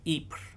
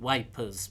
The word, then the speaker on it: Ypres: on French troops outside the belgian city of Ypres which in the first world war the English soldiers called wipers because they couldn't pronounce french so what happened was